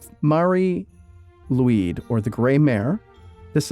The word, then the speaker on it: Mari Lwyd: Number 4, and I'm totally going to mispronounce this. It's Mari Lwyd, or the Grey Mare.